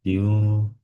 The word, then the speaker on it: queue: Jadi untuk pembacanya itu yang benar Q. Jadi kayak kita baca huruf Q biasa, cuman agak dipanjangkan sedikit, punya Q seperti itu.